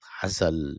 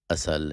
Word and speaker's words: Assal: This is Assal, Assal in Arabic, Assal in Persian. I guess they don't pronounce the A.